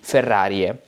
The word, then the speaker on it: Ferrariae: Ae is read in medieval Latin as e, Ferrariae.